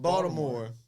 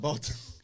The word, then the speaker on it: Baltimore: Baltimore, not Baltimore. That's how they say it too. Baltimore.